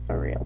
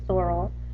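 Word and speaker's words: sorrel: is color soral sorry I I pronounce it sural but it's actually soral is s o r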